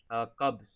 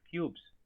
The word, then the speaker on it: cubs: Just remember one thing that you missed on some of the pronunciation, like cubs. Okay, it is not cubes. The baby lions are called cubs.